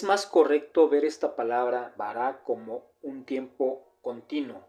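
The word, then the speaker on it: בָּרָא: usar esta palabra como baará. se colocaron dos dos vocales que le dan la pronunciación de Bahará y esto es creó tiempo pasado, ¿vale?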